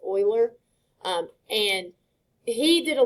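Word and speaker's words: Euler: I know that looks like uler but um it's pronounced Oiler.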